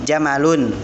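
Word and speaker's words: جَمَل: kita jawab harga jamalun eh jangan di panjang-panjang kan Jangan jamalun atas jamalun tapi jamalun ya pendek khaza jamalun ke tiga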